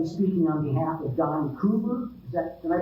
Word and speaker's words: Clodfelter: Carolyn is on behalf of Don Clodfelter. Is that Did I pronounce that correctly?